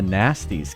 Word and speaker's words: Gnasty: don't this is a nasty's castle and it's spelled with a G see nasty swirl g-n-a-s-t-y every time you're chasing